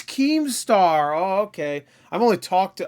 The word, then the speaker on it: Keemstar: you don't his name right like here's this chemstar is that how you pronounce his name chemstar oh it's keemstar oh okay I've only talked about him a